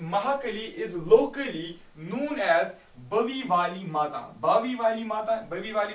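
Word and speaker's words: Bawe Wali Mata: Is locally known as बवी वाली माता, बावी वाली माता, बवी वाली माता जिस तरीके से आप प्रोनाउंस करोगे खुद, लेकिन आपको याद रहना चाहिए ये है BAWEWALIMATA, बावी वाला माता।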